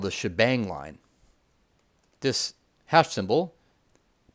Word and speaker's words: shebang: which is called the shebang line this hash symbol i think it stands for shell here and then the exclamation point is often pronounced bang shebang now for some languages